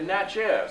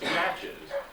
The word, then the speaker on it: Natchez: They mispronounce that. They say Natchez. It's Natchez.